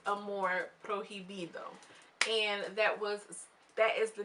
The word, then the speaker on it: amor prohibido: It's pronounced amor prohibido, and that is the name of one of Selena's albums.